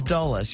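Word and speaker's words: Dulles: cuz they're not here it's dullas you say it like that right yeah I think you're right and I'm not sure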